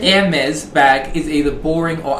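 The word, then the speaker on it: Hermès: every hermes bag thank you for your great pronunciation ermez bag is either boring or ugly i think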